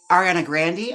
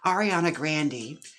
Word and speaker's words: Ariana Grande: Ariana Grande, I just found out recently from IMH Show that's how her name is pronounced. Ariana Grande.